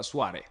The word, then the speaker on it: Suare: When you write it with an R, but you pronounce it with an N. Yes, no, it is pronounced officially on the paper, Suare.